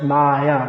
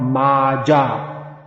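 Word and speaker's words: माया: not in all cases just like the word is pronounced maya not maja actually in bengali one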